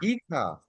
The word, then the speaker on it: hija: Hija. Hija. Perfect. Perfect. Hija.